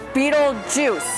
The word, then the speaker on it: Beetlejuice: Put it together. Beetle juice. That's it. That's right. It's spelled differently, but basically, kid, that's what you gotta say.